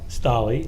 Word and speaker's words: Stolley: Stolley. Yes, sir. Of course. Perhaps I mispronounced your name before.